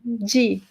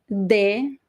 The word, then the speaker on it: de: sense it doesn't make any sense right g g sphere this is the most common pronunciation in brazil of the preposition g but some people in brazil would say de or di so this is one of those words that